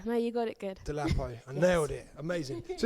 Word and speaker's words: Dolapo: Am I saying it right? No, Dolapo. you are. Actually, do you know what? You're probably one of the first few people that's like said